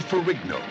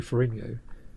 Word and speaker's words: Ferrigno: Which also starred Lou Ferrigno. Ferrigno. I keep trying to say it like the Italians would, but I think he pronounced it Ferrigno, didn't he?